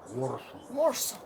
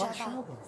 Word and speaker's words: Warszawa: En anglais, c'est "Wor-saw". Ce n'est pas "Wor-saw", c'est Warszawa.